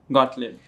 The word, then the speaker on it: Gottlieb: Please welcome Lauren Gotaut. Wa and the pronunciation of my name is perfect.